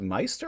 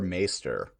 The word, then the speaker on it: Maester: The way that's spelled, it probably should be pronounced Meister, but I think they say Maester.